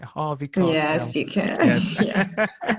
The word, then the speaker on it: Harvey Keitel: say his name all right, Harvey Keitel.